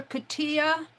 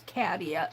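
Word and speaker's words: Catia: Let me now I call her Katilla. Now her name is Kadia. C A T I A. And she pronounces her name as Kadia.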